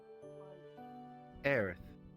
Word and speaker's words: Aerith: Aerith.